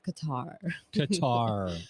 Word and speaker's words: Qatar: doing good um so it's it's gutter cutter yeah uh but it's mostly the white version of it is qatar qatar right but they pronoun the act the cultural pronunciation is cut yeah all right well